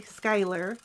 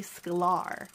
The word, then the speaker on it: Sklar: midea how embarrassing so his name is not Marty Schuyler it's Marty Sklar and my husband also